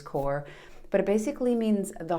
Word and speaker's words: cor: the latin word c-o-r which i would pronounce also as core but it basically means